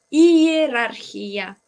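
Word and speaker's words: иерархия: Hierarquía. Hierarquía. Con el acento a la A.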